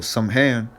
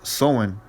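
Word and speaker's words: Samhain: ancient Celtics Festival of somehand pronounced sewing that's I believe that's the true pronunciation so on the Celts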